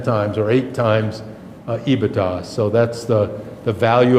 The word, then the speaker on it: EBITDA: career this this term ebitda that's how it's pronounced by the way ebitda i see it others pronouncing it different ways